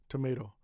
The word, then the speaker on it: tomato: The first T is strong. The middle t is soft tomato.